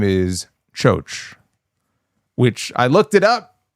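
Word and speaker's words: Kyo: Spelled KY Yo Ki, but he pronounced it as Cho. So that's what I'm going to call him until somebody tells me otherwise. Uh his new name is Cho, which I looked it up.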